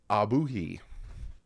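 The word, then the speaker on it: Ogbuehi: Armstead Karen Christian Ryan Hayes Kendall lamb Cedric abuhi yeah that's how you pronounce his name Keon Smith James now tun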